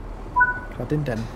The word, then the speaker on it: Cardenden: Oh, it's pronounced Cardinden. Is that right? Cardinden.